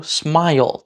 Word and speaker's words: smile: But the second, and I think much more common, especially when we're speaking quickly, is just have that second syllable be just an L. Smile, smile. That's all you need to make it a syllable.